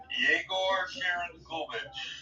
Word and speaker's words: Yegor Sharangovich: It looks like, let me see if I'm pronouncing this, Yegor Sharangovich. You got it. Yegor Sharangovich has not scored a lot of goals when he's been picked up from the Devils.